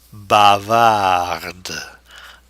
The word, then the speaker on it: bavarde: Bavard, but now the E will force the pronunciation of the D. Bavarde.